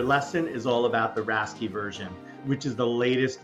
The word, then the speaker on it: RASCI: a how-to guide again it's pronounced rasy for the r a c I letters you should also know